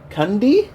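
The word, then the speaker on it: Cundey: what's his last name cundy say it one more time Cy it sounds like you're saying candy in a funny way candy you definitely want to pronounce the d in that do you like the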